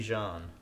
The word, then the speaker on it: Jean: It's Jean, but it's Jean. They showed him. But I mean, it's pronounced Jean, like he's French.